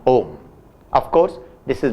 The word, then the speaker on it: Om: in this word even the consonant, that is M, is pronounced in its original unexpanded, unelongated form just as a closing point.